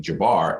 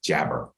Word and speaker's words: Jabar: pronounce my name so people mispronounce my name Jabar as jabber and it really irritated